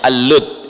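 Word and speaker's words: اللد: Kalau dalam bahasa Arab dibacanya Al-Lud, ya.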